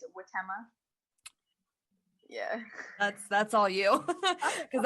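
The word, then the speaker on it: Huitema: I've always pronounced it Haidama, but apparently it's Witema.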